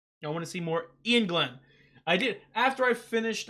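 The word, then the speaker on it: Iain Glen: I love him as an actor, but I never know how to pronounce his name. It's Ian Glenn.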